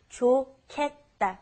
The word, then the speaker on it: 좋겠다: It's pronounced differently than how it's spelled. It's the pronunciation is 좋겠다, 좋겠다.